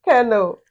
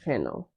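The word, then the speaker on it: colonel: Your next word is kernel.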